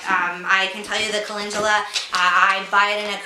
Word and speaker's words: calendula: It's called calendula oil, and it's spelled C-A-L-E-N-D-U-L-A.